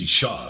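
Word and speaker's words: אשה: Now it's Isha because we've added this ah at the end, the hey, the breath, Isha.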